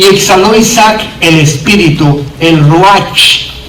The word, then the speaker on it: Ruach: Y el versículo 29 dice: y exhaló Isaac el Espíritu, el Ruach. Así se escribe en el hebreo, R-U-A-C-H, y se pronuncia J, Ruach.